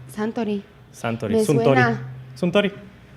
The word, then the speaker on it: Suntory: Y la compañía que lo mandó era Suntory, que se escribe Suntory, pero se pronuncia Suntory. Santori.